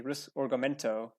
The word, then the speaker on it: Risorgimento: The Italian unification, the my Italian is bad, but I believe it's pronounced the Risorgimento, the unification of Italy